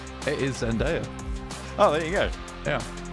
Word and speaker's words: Zendaya: Just be quiet a sec whilst I listen to this pronunciation. It is Zendaya.